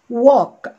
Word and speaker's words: walk: walk ما اسمهاش walk، لان هنا ال ال ما فيهاش ساوند، ال ال مع ايه ادت ساوند او.